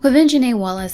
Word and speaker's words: Quvenzhané Wallis: Quvenzhané Wallis had to deal with a lot of disrespect when she was nominated for her first Academy Award at 9 years old.